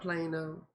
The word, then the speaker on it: Plano: I know about Plano. Rhymes with Drano.